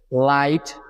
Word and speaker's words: lite: সুতরাং LITE নিলে হয়ে যাচ্ছে লাইট, লাইট। কি করে হলো? কারণ আমরা জানি যে কোনো শব্দ শেষে যদি ই থাকে সেক্ষেত্রে সেই ই এর কোনো প্রনাউন্সিয়েশন হয় না, অর্থাৎ ওই ইটি সাইলেন্ট হয়ে যাচ্ছে, তাই তো?